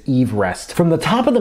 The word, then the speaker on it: Everest: I should for example the actual pronunciation of it is Ever Rest from the top of